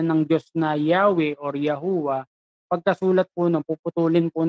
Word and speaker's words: YHWH: Ang pagkakabasa po natin dyan sa Tagalog, Yahweh. Diba? Yahweh. Tapos sa ibang translation, Jehovah. Diba? Jehovah. Tapos yung iba naman, ang tawag talaga dyan, yung original pronunciation niyan, Yahuwah. No? Yahuwah. Magano, Yahuwah.